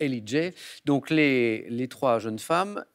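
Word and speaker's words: L.E.J: Parce qu'on le prononce à l'anglo-saxonne, mais je n'allais pas vous refuser, bien sûr, la bonne réponse. L, donc les initiales L, E, J et Ellie J.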